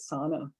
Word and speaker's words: sauna: bit more later here another example of a local pronunciation is the pronunciation of sauna or sauna as sauna and this is what we call uh shibboleth and the pronunciation of sauna it comes from finnish but probably swedish norwegian german other european languages that would pronounce it that way i think english is probably only a language that pronounces it sono this pronunciation not only